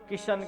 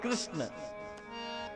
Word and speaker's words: कृष्ण: कितना परिश्रम लगता है कई लोग तो कृष्ण कह भी नहीं पाते किशन किशन किशन लेकिन शुद्ध नाम है कृष्ण कई लोग कहते कृष्ण